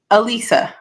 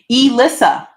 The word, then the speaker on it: Elissa: correct me first off I thought it was a Lisa this whole time e Lisa no it's Elissa Elissa oh my God yeah